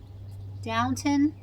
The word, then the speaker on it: Downton: So I picked up The Mitford Murders by Jessica Fellows, and it says on here that she's the author of Downton Abbey. Downton?